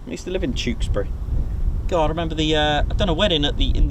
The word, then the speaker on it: Tewkesbury: RJ what watching from Tewkesbury that's the way pronounce it with the CH Tewksbury I used to live there I used to live in Tewkesbury God I remember the uh I've done a